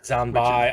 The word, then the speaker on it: Zanbai: Zanbai. I thought I might have been saying it wrong. No, you're saying it right. It's just that it was bonsai backwards. Ah, yeah. Like a reverse bonsai cheer.